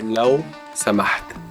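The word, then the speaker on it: لو سمحت: And please we say law samaht. Lo samat. Law samaht.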